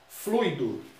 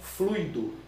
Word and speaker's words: fluido: A pronúncia formal é fluido, não é fluido. Fluido no português popular.